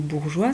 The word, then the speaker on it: bourgeois: Tu vois, à chaque fois, on a ce E muet qui se rajoute pour bien forcer le G à glisser, même avec une lettre ronde qui bloque d'habitude.